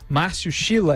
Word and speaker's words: Márcio Schiller: E nós temos aqui na linha procurador de Justiça do Ministério Público de Minas Gerais, Márcio Schiller, é assim que se pronuncia.